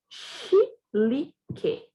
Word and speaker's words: chilique: E aqui, chilique. Som do X, chi, li, que. Nesse caso, o que é dígrafo, porque eu não ouço o som do U, tá bom?